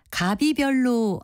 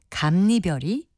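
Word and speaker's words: 갑이별: 이별을 합해서 만든 단어입니다 그런데 발음을 갑비 별로 하고 있는 분들이 많은데요 가비의 발음은 맞지 않습니다이 경우에는 글자 모양과는 많이 다른 리별로 발음하는 것이 맞습니다 표준 발음법에 합성어 및 파생어의 앞 단어나 접두사의 끝이 자음이 뒤 단어나 전미사 첫 음절이이야여요 유인 경우에는 니은을 첨가해서 니냐 여뇨 유로 발음한다는 규정이 있기 때문입니다이 첨가된 니은 음의 영향으로 첫음절 갑에 받침 비읍이라 감별이 되는 겁니다 바른말 고운말 아나운서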